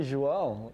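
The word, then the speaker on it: João: How do you like the pronunciations you've heard so far? Well, I think you just say Joao.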